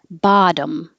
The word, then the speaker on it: bottom: Bottom. These T's change to a D and we make the M bottom from top to bottom.